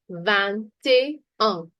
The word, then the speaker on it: vingt-et-un: Pronunciation is vingt-et-un.